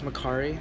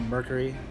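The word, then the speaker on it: Mercari: Uh, I use Mccari or Mercury. people pronounce it, you know, two different ways, but it's M E R C A R I.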